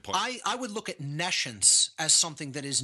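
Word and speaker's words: nescience: or hear the word Nations so I'll even spell it for the listening audience it's n-e-s-c-i-e-n-c-e like n e and then the word science meaning no science again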